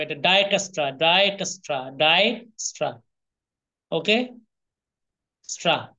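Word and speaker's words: Dijkstra: ডায়কাস্ট্রা এইটা ডায়াস্ট্রা ওকে এইটা কিন্তু উচ্চারণ ডিসকাস্ট্রা ডি আই জে যে টা কি থাকবে সাইলেন্ট যে টা কি থাকবে সাইলেন্ট থাকবে এটা ডাইকাস্ট্রা ডাইকাস্ট্রা ডাই স্ট্রা ওকে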